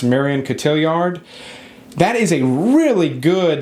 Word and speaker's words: Marion Cotillard: but allied with Pitts and I think it's pronounced Marion Cotillard that is a really good that World War